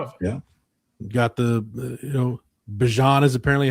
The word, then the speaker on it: Bijan: Got the Bijan is apparently how Bijan wants his name pronounced in the NFL, so we'll go with that.